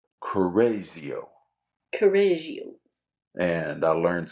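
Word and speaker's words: Correggio: g g i o two G's put together make the z sound Kio oh Cario yeah um Leonardo began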